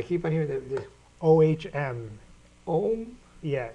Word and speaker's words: Om: Om. Yeah, it's pronounced Om.